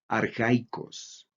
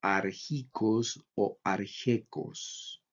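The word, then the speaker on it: ἀρχαϊκός: Ejemplo, la palabra arjaicos, que quiere decir primitivo, se pronuncia arjaicos. Si no hubiera diéresis, tendríamos que pronunciar como arjicos o arjecos. Pero la presencia de la diéresis nos está diciendo pronuncie por separado alfa y la iota. Entonces, arjaicos.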